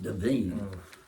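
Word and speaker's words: Da'Vine: or deine Divine Divine I heard something the other night pronounce it deine I thought have I been saying that wrong divine Joy Randol for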